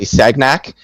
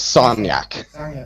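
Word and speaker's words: Sagnac: physics on this because they all say sagnak the guy was French his name was sonnak it doesn't matter how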